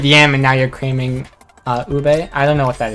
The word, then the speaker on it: ube: Ube, okay.